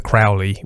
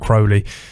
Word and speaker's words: Crowley: friend of Aleister Crowley, he pronounced his name wrong. He said Aleister Crowley, which everyone knows Crowley preferred to be called Crowley.